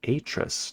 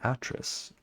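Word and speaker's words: Atrus: Also, just an FYI, Atris is pronounced like Atris, not Atris.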